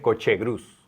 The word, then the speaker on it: Cochegruz: Sí, se pronuncia Cochegruz, como coche gris, pero con U.